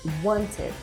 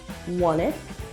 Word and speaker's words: want it: Here, Fry's words flow into each other when he says want it. Instead of pronouncing the T in want, the sound is silent and the two words join together. So what we hear is want it, you want it.